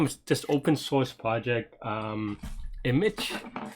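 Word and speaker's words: Immich: I've been playing around with this open source project, Image, spelled like I-M-M-I-C-H.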